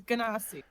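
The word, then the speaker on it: Genasi: for saying it wrong oh she do the hard G doesn't she gasi shame it's always been a gasi until I met you how do yall pronounce it J but that's I don't know I could be horribly wrong you are horribly wrong it is ganasi show me show me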